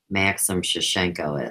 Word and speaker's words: Maxim Shushenko: And I go on to say no one should be put on trial, condemned, or judged, except whomever Maxim Shushenko is. And his name is spelled MAXIMSUSHENKO.